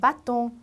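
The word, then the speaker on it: bâton: 발음의 변화가 없기 때문에 그냥 아로 읽으시면 되겠죠. 바통.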